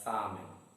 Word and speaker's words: salmon: And the 9th word, salmon. Again, stress is on the first syllable and the word is read as salmon.